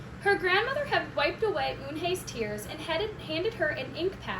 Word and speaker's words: Unhei: "Unhe said."